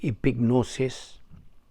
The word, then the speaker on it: epignosis: p i g n o s i s pronounced epignosis but actually pronounced not epinosis for the